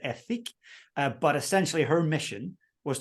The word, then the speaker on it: Ethique: It's called Ethique. Some people might pronounce it Ethique, but essentially her mission was to stop shampoo bottles and come up with a shampoo bar.